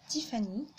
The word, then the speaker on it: Tiffany: Bonjour à tous, je me présente, je m'appelle Tiffany, donc d'où le nom de ma chaîne, un T qui se prononce T en anglais et Fanny, voilà.